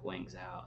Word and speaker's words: Guangzhou: Yeah, Guangzhou is how you say it.